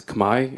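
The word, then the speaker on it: Khmer: understand exactly what the kimer civilization was is kimer pronounced today as Kamai in the Cambodian language you can ask a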